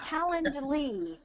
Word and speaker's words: Calendly: Yeah, it's Calendly. Calendly. So let me spell it here.